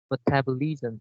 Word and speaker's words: metabolism: metabolism is uh yeah i only stress on the second right without i don't